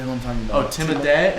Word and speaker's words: Timothée: He has his name is technically like the French version. Oh, I never knew that. Timotei. Timotei. But everyone. I never knew that. Everyone does Timothy. Yeah. But I heard somebody say the right way to say it is Timotei.